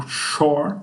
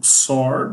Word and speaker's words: XOR: Na programação e na eletrônica digital, isso aqui é conhecido como operação exclusive OR, ou SHOR, ou XOR, dependendo da pessoa que pronuncie.